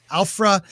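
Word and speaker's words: Aphra: Afra, yep.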